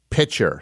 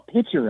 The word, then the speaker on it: picture: bus driver when I heard him pronounce the word picture as pitcher. And I know that's very petty, but yeah, I think that's a massive red flag. Pitcher, saying pitcher.